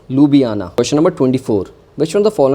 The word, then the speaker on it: Ljubljana: It has been pronounced as Ljubljana.